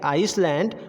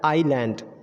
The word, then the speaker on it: island: क्या बता रहा है, आई एंड एल के बीच अगर एस आता है तो वो एस हमारा साइलेंट हो जाता है। तो यहाँ पे जो हम अब तक गलत प्रोनाउंसिएट करते थे आइसलैंड, वो हमारा हो जाएगा आईलैंड।